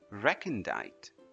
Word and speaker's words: recondite: First up, we have this word which is pronounced as recondite.